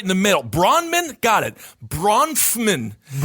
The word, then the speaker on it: Bronfman: How do you pronounce their last name? Uh they're Bronfman Bronfman Bronfman Bronfman It's literally b r o n f m a n.